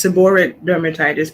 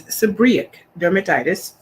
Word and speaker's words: seborrheic dermatitis: It's been pronounced by many as seborrheic dermatitis, but it's seborrheic dermatitis, psoriasis with locks.